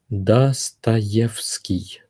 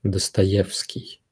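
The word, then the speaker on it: Достоевский: Mikhailovich his father was knee-high you Michael you dust a gift ski man is read as fuh because it's the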